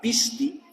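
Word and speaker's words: πίστις: Ahora bien, se me olvidó decirles, esta palabrita de acá es creencias en griego, que se pronuncia pishti, y esto es en ruso, que se pronuncia vera, no me digas, viera.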